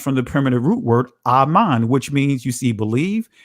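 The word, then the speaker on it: אָמֵן: That's how you pronounce it in ancient Hebrew. When you say amen, that is a transliteration.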